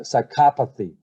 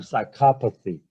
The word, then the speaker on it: psychopathy: suffering so mind suffering again the stress is on the excuse me the stress is on the second syllable on the second syllable